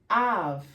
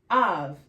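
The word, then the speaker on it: אב: In Hebrew, it's av, bat, av, and it's also av in Aramaic.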